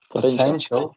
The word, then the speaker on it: potential: has i know sorry potential as 3c levels and the stress is in the second one so 10 show the